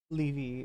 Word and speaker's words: Levy: 2 meters away um I'm I'm told it's pronounced Gideon Gideon uh Le leevy um this is a yeah a bad time